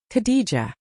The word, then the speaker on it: Khadijah: It was Khadijah Branson, a name half the internet keeps mispronouncing and apparently a name much of New York hip hop has spent years pretending not to recognize. Say it slowly, Khadijah.